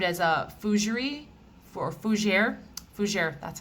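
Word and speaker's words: fougère: this is described as a foosiery for fujier fujier that's how you say it fouger fragrance so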